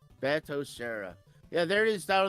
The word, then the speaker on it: Batocera: Well, how is it pronounced again, Aaron? Batocera. Batocera.